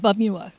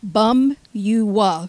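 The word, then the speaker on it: Pamyua: It's called Bumua. What is it? But it's like Bum-U-Wa, but it's spelled P-A-M-Y-U-A. Wow, it didn't sound like it was... You say bum, the P is silent.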